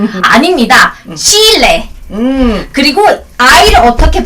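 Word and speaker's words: chile: 고추 이거 어떻게 발음하지? 고추? 어떻게 하지? 칠리? 아닙니다. 칠레.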